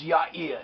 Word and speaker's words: Yair: Yair is usually transliterated in the Bible and biblical translations in English as Jair, J-A-I-R. In modern Hebrew is pronounced as Yair.